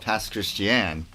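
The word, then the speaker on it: Pass Christian: I grew up in a town called Passch Christian which is Christian Pass backwards and mispronounce.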